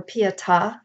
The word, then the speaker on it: pietà: Pieta prayer book and for pietà is the way it's pronounced and there is a